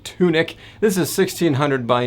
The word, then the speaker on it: Tunic: game it's time for a little bit of tonic i'm just kidding i know it's pronounced tunic this is sixteen hundred